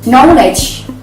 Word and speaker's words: knowledge: And the last one is knowledge, knowledge. So that's the example of the silent K.